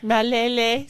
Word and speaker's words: Malele: Malele, thank you so much for coming Malele. in. Malele, sorry, There we go.